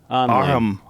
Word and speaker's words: Arnhem Land: Arnhem Land?